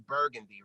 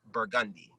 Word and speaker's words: Burgundy: For example, here we all know it as burgundy, right? Yeah. The color burgundy, but pronounced in New Orleans, it's burgundy.